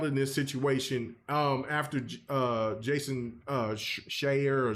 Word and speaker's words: Schreier: So the question I'm asking is, who's more at fault in this situation after Jason Schreier or Shire, however you say his name? Schreier.